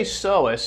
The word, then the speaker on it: psoas: tell you okay so when I say Sohus and it's spelled psoas okay so think of